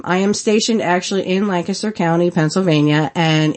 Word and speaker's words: Lancaster: Not Lancaster California we're Lancaster PA and let me just